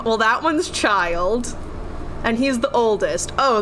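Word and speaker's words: Childe: that his name's child it's spelled like chill day but they pronounce it child and I'm like that's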